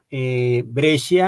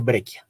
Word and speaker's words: Breccia: a otras obras foráneas tal vez el apellido algunos si les suena grecia algunos también lo nombran como grecia pero de esta forma pues digamos que la pronunciación debería ser brecha no es un apellido de origen italiano y por aquí está